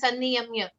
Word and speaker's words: sanniyamya: So it is a double N there. So we need to slightly stress upon the N in sanniyamya. Sanniyamya. Sanniyamya. Yeah, like SUNNY, sunny in English.